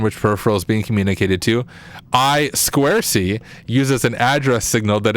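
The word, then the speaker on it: I²C: communication uh let's see oh it's pronounced I Square C it looks like i2c for for what it's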